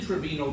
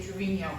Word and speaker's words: Trevino: um Jose Trevino catcher I think they say Trevino there's a picture to it although on the other hand he probably was Trevino the Americanized it he might have been